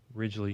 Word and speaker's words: Ridgely: Ridgely, yes.